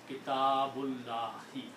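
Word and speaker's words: كتاب الله: But when you do with the tajweed, the recitation, then rule of recitation of the Quran say that you don't pronounce the alif here, and you pronounce one whole together word statement, Kitabullahi, book of Allah, the book of Allah.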